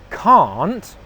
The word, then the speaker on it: can't: So the difference between these first two words is the vowel sound in the middle. 'Can't' as in 'no you can't' it's the /a:/ sound it's a long vowel sound /a:/ Compared to that is the /ʌ/ sound /ʌ/ which is a short English vowel sound.